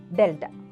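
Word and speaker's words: Δ: 1 2 etcetera and predominantly this is to be pronounced as delta okay so on the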